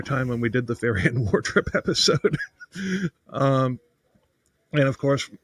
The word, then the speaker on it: Faryion: And of course, we pronounce his name as Faryion.